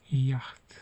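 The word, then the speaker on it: Jacht: Yilon yaht yat demek burada. Yani gibi okumadık. Gördüğünüz gibi yat. Yah. Ch yan yana gelince he olarak okunuyor. Bunu da göstereceğim sonra. Yaht yani bizdeki Y gibi oldu.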